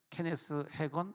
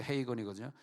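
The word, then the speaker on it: Hagin: 근데 케네스 헤이건이라고 하는 목사님이 우리나라 말에는 케네스 헤건 이렇게 이제 번역돼. 원래는 이제 영어 발음 케네스 헤이건이거든요. 케네스 헤이건이라는 목사님이 이때 이제 책은 작았어요.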